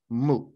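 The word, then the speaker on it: 無: this that's the character again in Chinese it's pronounced in Japanese it's just moo and the thing about this character is and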